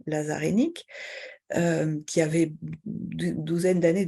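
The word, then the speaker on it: Hainich: Le nom s'écrivait H-A-I-N-I-C-H en roumain. Mon grand-père a toujours prononcé notre nom Hennik, en disant que ça se prononçait Hennik en roumain.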